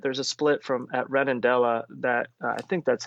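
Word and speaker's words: Redondela: there's that split there's a split from at Redendella that I think that's how you pronounce it. You'll have to excuse me. I'm not No, that's perfect. That's perfect. Redundella.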